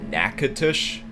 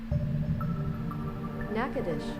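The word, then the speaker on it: Natchitoches: It's pronounced Nacadish. Nackadish.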